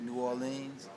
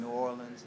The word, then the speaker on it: New Orleans: people pronounce it that way but we also pronounce it New Orleans and New Orleans and New Orleans and also there's some Uptown